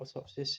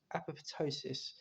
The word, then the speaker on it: apoptosis: Not atopsis, it's apoptosis.